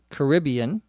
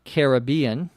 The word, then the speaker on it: Caribbean: of Martinique in the Caribbean or Caribbean you can pronounce it either way in American English Caribbean or Caribbean the